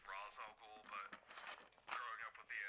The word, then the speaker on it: Ra's al Ghul: Yeah, and I know her father's name is supposed to be pronounced Ra's al Ghul, but growing up with the animated series, I still say Raish.